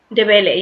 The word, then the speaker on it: Ndebele: some statement in Shona, or how do you pronounce the other one? And the belly. Ndebele, yes.